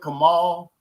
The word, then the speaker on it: Kamal: I appreciate you, Kamal. Is that how am I pronouncing that right? Kamal? Yes, you are.